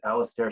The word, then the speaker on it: Alastair: crazies my name is Alastair I'm an evil scientist my name is pronounced like Alistair hello middle my favorite